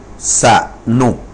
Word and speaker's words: สนุก: สนุก นะ ครับ อ่า สนุก นะ สะ เหมอ อ่า สะ เหมอ อ่า สนุก เสมอ นะ จะ ออก เสียง อะ ก่อน นะ ครับ unr